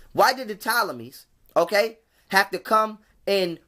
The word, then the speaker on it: Ptolemies: Why did the Ptolemies, because the P is silent, why did the Ptolemies, okay, have to come